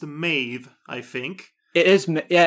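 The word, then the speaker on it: Mebh: And if you want to get even more complicated, in Ireland, depending on which county you're in, it could be pronounced Meave instead of Maeve.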